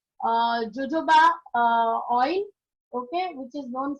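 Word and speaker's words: jojoba: जोजोबा लिखा है यहाँ पे, प्रोनाउंस करते हैं जोजोबा, लेकिन ये शैम्पू, यू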